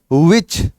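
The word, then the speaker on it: which: विच है तो विच, W के बाद H साइलेंट रहता है।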